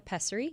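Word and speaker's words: pessary: A peserie. Uhhuh. You said it correctly. A peserie.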